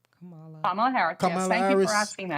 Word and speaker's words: Kamala: Am I pronouncing her name right? Kamala Harris.